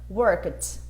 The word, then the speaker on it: worked: Work, worked, né? Som de T.